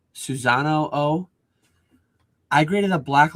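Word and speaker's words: Susano'o: I have no idea if I'm saying it right, but it's like Susanoo. Oh, it's like s u s a n o apostrophe o. Susanoo.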